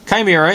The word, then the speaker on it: Chimera: the last two but kimira is how you say the first one and it's from Safari